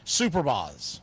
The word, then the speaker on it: Superbas: your screen, these are the Brooklyn Superbas, or some people pronounced at the time Superbaz. It depended on what part of the city you were from.